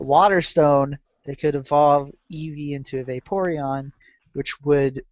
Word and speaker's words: Eevee: based on the fact you pronounced it Eve. Okay, Eevee.